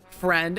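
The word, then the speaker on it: Phrend: In case you're new, hashtag friend, and that's spelled P-H-R-E-N-D.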